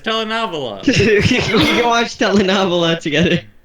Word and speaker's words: telenovela: we can watch Telenova together. You're not even pronouncing it right. It's telenovela.